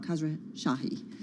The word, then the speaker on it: Khosrowshahi: Khosrowshahi.